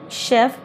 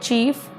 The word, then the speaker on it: chef: of chef was wrong instead of saying chef she said chief 70 years she said